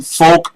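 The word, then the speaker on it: Foulk: um listen stockings for soldiers Delaware Incorporated 1911 Folk Road f o u l k road and road is spelled Rd it's really not but spk not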